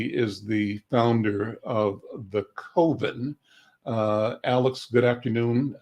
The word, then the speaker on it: Coven: I think most people see Cove. And so I like to think about it's an oven, not an oven.